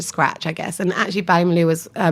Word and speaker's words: Ballymaloe: How did you then end up at, is it pronounced Ballymaloe? Oh yeah, Ballymaloe.